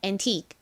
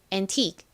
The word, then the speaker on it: antique: 귀중한 골동품이 i 부분을 좀 길게 발음해 주셔야 돼요. 그래서 an이 아니라 antique antique 이렇게 소리 내 주셔야 됩니다.